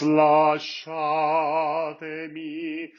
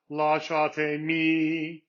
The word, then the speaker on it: lasciatemi: In this particular case, it's the second syllable. So it's lasciatemi instead of lasciatemi.